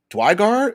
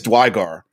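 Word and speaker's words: duergar: my go-to is is a pronounced dwygar is that how they pronounce it dwight i wish they'd never gave us the pronunciations of these things i think it's dwygar dwargar that is how they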